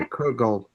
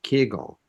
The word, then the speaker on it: kugel: the word kugel kegel, is pronounced differently for different people.